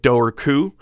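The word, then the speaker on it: Dobhar-chú: door the doorku um it's spelled doberchu but i heard an irish person say it doorku so i'm gonna say it the way the irish person said it i mean that's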